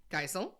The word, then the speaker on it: Geisel: It's probably Geisel. Yeah. That's what I thought. Okay. That's what I've heard. Okay, Theodore Seuss Geisel is how he pronounces his name.